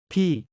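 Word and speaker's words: พี่: B. B와 비슷하게 발음하되 올라가는 억양으로 당신보다 나이가 많지만 같은 세대의 사람과 대화할 때 사용합니다.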